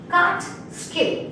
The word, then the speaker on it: Catskill: How to pronounce it? Catskill.